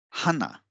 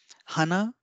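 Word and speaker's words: はな: now let's uh uh Hana if you give more stress on her then it will mean nose like Hana that is nose and if you give more stress on na that is Hana Hana then it will mean flower so this is the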